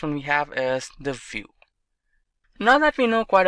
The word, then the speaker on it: Vue: Vue.js is commonly referred to as Vue and pronounced as Vue.js or Vue is rightly so.